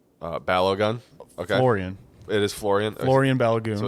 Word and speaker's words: Florian: them individually, so we talked about this guy, Fullerin. I think his first name's Fullerin. Balogun. Okay. Florian. It is Florian.